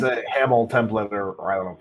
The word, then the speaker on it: HAML: So Oh, we is get looking- it's a Hamel template, or I don't know if you say. Yeah. I think it's Hamel. Hey, it's British actually. Say HAML. HAML is actually what you say now.